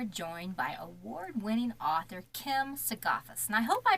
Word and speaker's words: Sigafus: tonight we are joined by award-winning author kim segoffis and i hope i pronounced your last name correct well it was okay go ahead and pronounce it for me would you please it's a gay fest gaifus okay so the s is completely science silence